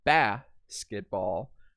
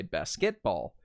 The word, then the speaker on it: basketball: stress of the syllables so in the word like basketball if you put that little accent mark over the first syllable the basketball because that's how you sound the word it sounds completely different and if I were to say basketball or basketball it doesn't sound right so you have to